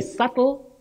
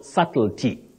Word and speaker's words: subtlety: hether to one Evans you say subtle subtly and subtlety Professor Edward Sabas of